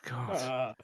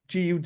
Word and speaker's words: Gull: sound so when you their main beer is called Gull gu L but it's pronounced G and they know you from